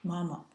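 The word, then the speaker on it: 妈妈: we've seen before, is mama, with a woman radical on the left and the symbol of a horse on the right. It's ma, pronounced in the first tone, and it's repeated twice usually, mama.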